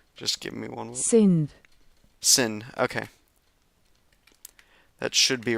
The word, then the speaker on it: Sindh: Is it pronounced Sindh? S-I-N or Sindh? I'm just gonna make sure real quick using this. Just give me one moment. Sindh.